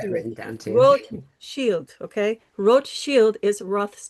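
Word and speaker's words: Rothschild: Ro shield. I have it written down to you. Ro shield.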